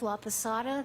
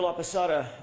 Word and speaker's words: Laposata: Laada. That's spelled L A P O S A T A. Dr. La Pasada, what do you do for a living?